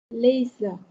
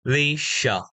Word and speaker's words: leisure: Leisure. Yes, one more time. Leisure. Leisure. Yes, the S is very strong. Sh, sh. Leisure.